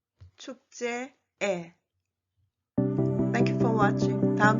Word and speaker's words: 축제의: And the second and the third 의 is a possessive particle, so it is pronounced as 에. 회의에, 축제에.